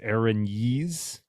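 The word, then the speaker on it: Erinyes: the top yes uh it's i guess it's pronounced oh you micah you looked it up it's aaron yeeze for that one yeah yeah didn't mean for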